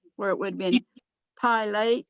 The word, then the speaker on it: Pilate: that was just the name of that place pilate is not pilate even though there's an e on the end